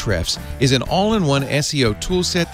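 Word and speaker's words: Ahrefs: to a href Escom the a is silent eight reps calm to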